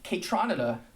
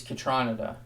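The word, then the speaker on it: Kaytranada: hear people say both i'm pretty sure it's katranada but kate renata is what i came up saying as a young uh you know odd future steve lacey dork so regardless of how you say it this is a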